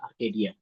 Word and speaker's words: Arcadia: Yang kedua namanya Arcadia OS atau kita bacanya Arcadia.